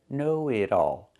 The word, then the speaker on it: know-it-all: Pronunciation, know-it-all. The T changes to a fast D because it's between vowels.